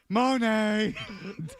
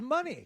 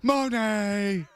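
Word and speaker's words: Moné: She's Monet. That's how you say it. Oh, I thought it was money. No. It's Monet. And you say it like you're having fun. Did you already? Like you're strangling something.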